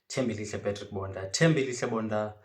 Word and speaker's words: Tembelihle Bonda: African correspondent for all things all elite wrestling, Tim Bailey Bunda. If that's too difficult for you to pronounce, you can just call me Mr.